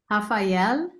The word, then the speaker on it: Rafael: is how do you say his name Rafael yes or half if you prefer Hafa Hafa.